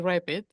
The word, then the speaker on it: RPT: Which which is strangely it's spelled RPT. They pronounce it as rapid.